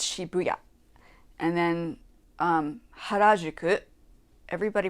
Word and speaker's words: Shibuya: It's not Shibuya, it's Shibuya. And then Harajuku, everybody pronounces it wrong.